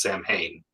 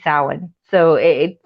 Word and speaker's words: Samhain: the way it's spelled do you think it's pronounced Samhain yeah funny thing is that's how I read